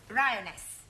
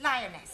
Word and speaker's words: lioness: of the following lion roness lioness ress no l l r r you're not saying it right very sorry I know try saying roness lioness good well in future every